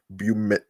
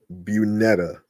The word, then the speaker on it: Julian Bunetta: Working with pop pensman heavyweights Julian Bumet. Hold on. I'm sorry. Um, let me try to pronounce this. Um, um, Julian Bunetta. There you go.